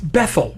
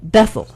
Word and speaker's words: Bethel: It's Bethel. Bethel, which is... Bethel is a synagogue somewhere. But There's a place in Israel. Bethel, New York. We just put the emphasis on the wrong syllable.